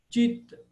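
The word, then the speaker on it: citta: O C mesmo, a letra C do alfabeto latino C, ele soa como cha, cha, como ciao em italiano. Ele é o C italiano, de ciao. Como se tivesse um T antes, ciao. Então a pronúncia Chandra, Chandra, nome da lua, Chandra. Ou Chitta, consciência, Chitta, Chitta.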